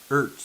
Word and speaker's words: Ertz: E-R-T-Z. I don't know how you pronounce his last name. Ertz? Ertz. Ertz. That's his name, Ertz.